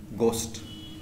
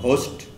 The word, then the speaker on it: ghost: There is a common saying, white as a ghost. It's not ghost, it's ghost. The H is silent.